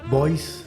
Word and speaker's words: Bois: Fe no sé dónde fuiste estamos con Federico Boys así se pronuncia Bueno estoy acostumbrado a hacer las notas